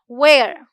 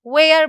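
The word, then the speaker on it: wear: पहनने की इंग्लिश होती है वेयर, ठीक है। इसे बहुत सारे लोग वियर बोलते हैं, ये नहीं करना है, क्या बोलना है, वेयर बोलना है, ठीक है।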